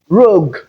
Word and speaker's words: rogue: Then we also have rogue. Rogue. So in place of gu we have the g sound.